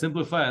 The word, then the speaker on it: Simplifya: You do have a tech company, POS system called Simplifya. Did I get that right? Yeah, it's Simplifya.